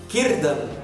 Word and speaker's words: Círdan: Eu já não preciso nem falar para vocês que se escreve Círdan, mas se lê Círdan.